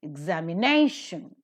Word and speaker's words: examination: ending with t-i-o-n but because the word is quite bigger a secondary stress is also given to the syllable zag the secondary syllable is marked with an apostrophe below and before the second release stressed syllable so it is examination no definitely has got the primary stress but so also is